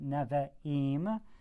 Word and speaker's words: Nevi'im: The Nevi'im, that's a long E sound, Nevi'im, and that's the prophets.